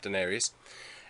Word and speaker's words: denarius: And that's correct how you pronounce that, denarius.